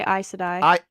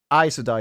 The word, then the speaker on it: Aes Sedai: Like I say Aes, you say ice. So Ace and like Ice.